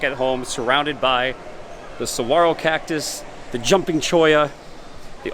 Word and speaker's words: saguaro: some of the Dead Saguaro there so you can see it's not Saguaro the g is silent saguaro cactus but these